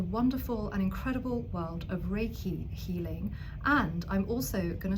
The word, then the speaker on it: Reiki: So it's spelt R-E-I-K-I, Reiki.